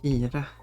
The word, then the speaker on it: Kira: Then I'll say the Swedish way, Kira. There we go. Rhymes with Mira, which means ant.